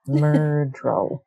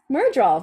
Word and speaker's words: Myrddraal: Myrddraal. Yes. Myrddraal. Very good. You are good at pronunciations. My goodness. This looks like a Welsh word with its double D's. I think, and it also sounds like murderer, so that's kind of awesome.